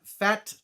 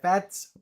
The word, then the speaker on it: Pfaadt: Brandon Fat. I think it's Fats.